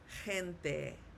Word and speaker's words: gente: It is not pronounced gente or gente. It's pronounced gente. Gente. So G when paired with an E sounds like an H.